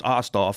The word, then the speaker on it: Osthoff: ozzyans I figured ever my last name's ostoff so yeah they started calling me and and stuff because I'd guess the T and the H are hard to pronounce or something like that